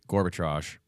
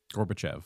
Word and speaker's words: Gorbachev: This is about Reagan having his sit down with Gorbbitrage. Gorbachev.